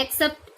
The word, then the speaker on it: excerpt: तो आर इसमें देखो साइलेंट रहता है, एक्सेप्ट इसको बोला जाता है, इसका प्रोनाउंसिएशन है वो एक्सेप्ट होता है।